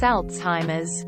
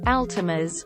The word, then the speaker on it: Alzheimer's: did make me giggle it's Alzheimer's not Altimas or Old-Timers I don't care